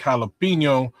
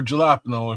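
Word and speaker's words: jalapeño: Um, guinea beans, onions, bell peppers, ground beef, garlic, jalapeno, or gelapno if you mispronounce it.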